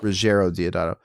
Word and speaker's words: Ruggiero Deodato: Ruggiero Deodato.